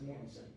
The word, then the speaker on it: Mortson: But you said Mortis twice today. Not Mortis, it's Mortson. My mom grew up in Morton, Illinois, just outside of Poria. I'm her son.